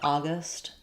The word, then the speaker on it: August: They're stressed on A. And then letter G says the G sound in August. Um, we have a short schwa at the second syllable. So I would just rewrite it with a instead of a u, August. Um, and then I would actually probably write gust.